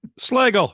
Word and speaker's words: Slagle: do you pronounce it slagel it rhymes with Bagel slel now I'm in